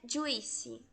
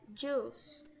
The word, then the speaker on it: juice: E não é juice, é juice, tá?